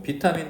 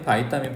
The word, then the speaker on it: 비타민: 뭐 비타민, 바이타민 발음은 똑같아요. 이거 원래 영어에서 온 단어가 아니기 때문에 바이러스도 마찬가지지. 뭐 우리는 바이러스라고 읽지만 비루스라고 읽는 사람도 있어요 실제로. 얘는 비타민이라고 읽어도 되고 바이타민이라고 읽어도 되는데 이게 뭔데?